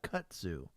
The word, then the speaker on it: kudzu: And it has what's called kudzu, which I learned the other day.